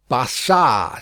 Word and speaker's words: Barsad: "Barsad," said Defarge, making it French by pronunciation.